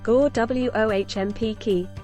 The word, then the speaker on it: Gołąbki: Golapki, pronounced Gołąbki, is a traditional Polish